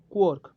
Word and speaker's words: quark: Okay, so here a point to remember ये जो quark रो pronunciation अच्छी quark is pronounced as quark as the word pork pork is pronounced.